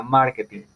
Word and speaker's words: marketing: La palabra sería market, pero yo voy a pronunciar la palabra como si no estuviera ese afijo, o sea, marketing, se mantiene en mar, ¿listo?